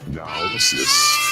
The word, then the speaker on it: Naosis: Ever joined by Paul Bear, talking about Project Naosis. So that's how it's pronounced.